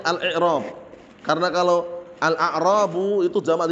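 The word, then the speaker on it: الإعراب: Kalau al-a'rabu jamak dari a'rabiyun badui. Bacanya bukan al-a'rab tapi al-i'rab.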